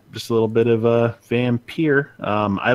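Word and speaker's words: Vampyr: I think that's how it's pronounced. So I'll talk a little bit about that later on. Vampire? Oh, man. It's Vampire.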